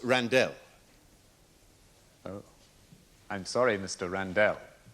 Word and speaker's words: Randell: My name is pronounced Randell.